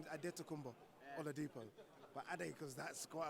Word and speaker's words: Adetokunbo Oladipo: On the pronunciation, is that a Nigerian name? Yes, Nigerian. Yeah, the full name is Adetokunbo Oladipo, but Ade because that's quite a long one to do.